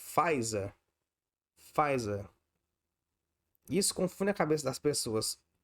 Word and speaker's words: Pfizer: Se você tirar o P, não faz falta, é só pronunciar a partir do F. Pfizer.